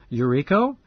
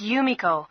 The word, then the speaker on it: Yumiko: better invite my neighbor Yumiko your Iko how do you spell that no it's Yumiko why you miko-7 you met